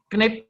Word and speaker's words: knip: Knip, gunting. Knippen, menggunting, sorry. Knip. Oh, bacanya kenip. K-nya tetap dibaca ya, Pak? Oh ya, bahasa Inggris enggak. Bahasa Belanda harus disebut ininya.